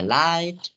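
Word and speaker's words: leid: Mia light ingat baik-baik Kenapa light bacanya karena e bacanya I me light aku min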